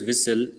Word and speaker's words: whistle: the guard blew his whistle and we moved off note how the group of letters s t l is pronounced in the words whistle the letter t is silent right you all know